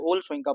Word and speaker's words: Wole Soyinka: आज हम बात करेंगे वल शंका की फोम इसको ओल शंका पढ़ना डब्लू साइलेंट कर देना ओल शंका की फोम